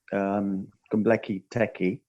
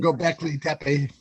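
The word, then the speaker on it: Göbekli Tepe: I'm going to write to you, an email to you regarding Gombleki Teki. Oh, sorry, Gombleki. I was practicing that before I came on. I knew I was going to murder that pronunciation. Gobekli Tepe.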